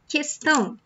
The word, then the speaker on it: questão: In Portuguese, we don't say it like that. We say like, que. So, when you have the word question in Portuguese would be questão, for example. Questão, okay? So, you don't say que, you say que, questão.